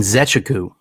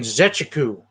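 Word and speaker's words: Nzechukwu: that coming from uh bill how do you pronounce his last name again and zechaku and zechaku got it but yeah um i you know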